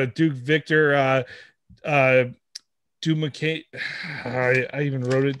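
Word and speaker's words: Dimukeje: edge rusher out of duke victor uh uh do mckay i i even wrote it down how to pronounce it uh duma keiji from duke sorry victor um tay gowen out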